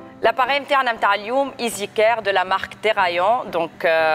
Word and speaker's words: EasyCare: Quoique, bon, EasyCare, hein, madame, ça se prononce juste EasyCare.